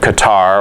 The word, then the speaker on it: Qatar: of the country of qatar or gutter depending on how you want to pronounce it for about the last